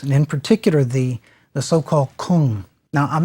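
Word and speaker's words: !Kung: in particular the so-called Kung. Now, I'm not really pronouncing that correctly. If you've seen it spelled, it's exclamation point K-U-N-G. The exclamation points stands for a click sound.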